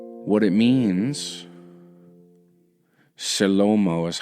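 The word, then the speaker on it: Shlomo: What it means, Shalomo is how you say it.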